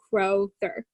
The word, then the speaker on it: Crowther: Like it's Crowther.